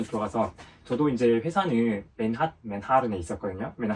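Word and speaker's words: Manhattan: 그래서 그분도 이제 퀸즈에 맨핫 옆에 맨하 그리고 여러분 재밌는게 미국에서 맨화탄이라 그러면 못 알아들어 알지 못해 뭐라 해야 되냐면 맨하른 맨하은 이렇게 발음해야 돼요. 저도 가서 외국인 친구한테 이렇게 들었어요. 맨하른이라 발음해야 된다고.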